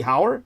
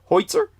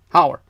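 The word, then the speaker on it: Heuser: Hey, your surname H E U S E R would be Howard as opposed to Hoitzer. Hower.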